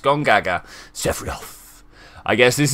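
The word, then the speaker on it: Gongaga: south of the river that is actually how that's pronounced gone gaga chef Ralph I guess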